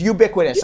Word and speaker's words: ubiquitous: syllables who are you is it ubiquitous or BIC when I always see you I say you bit me it is ubiquitous obviously I don't know